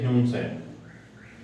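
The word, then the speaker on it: Hiuen Tsang: ह्यून सैंग की अगर हम बात करें, सॉरी इसका स्पेलिंग जो है ना, यहाँ टी लगा लो, टी साइलेंट रहेगा।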